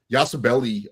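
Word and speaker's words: Yabusele: And I love what Al said about the bench because when you think about it, Yasabelli, um, that's how you pronounce it.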